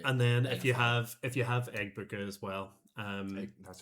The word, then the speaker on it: Egbuka: And then if you have Egbuka as well, that's how you say it.